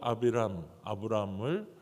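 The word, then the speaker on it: אַבְרָם: 정확한 발음은 히브리어로 아비람입니다. 이것은 그냥 좋은 아버지, 그냥 이렇게 존귀한 아버지, 어떻게 보면 한 사람의 그러한 아버지라는 뜻이에요. 근데 그 아브람을 어떻게 합니까?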